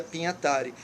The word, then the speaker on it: Pignatari: Escreve Pignatari, o nome vem do italiano, pronuncia Pignatari, que é um grande semiólogo brasileiro.